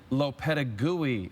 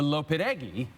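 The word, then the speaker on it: Lopetegui: Illinois and I also apparently butchered the name of the recently fired Spain manager now Real Madrid manager Hulan LaPenta GUI is the right way to say it I said a little bit eggy thank you to Danny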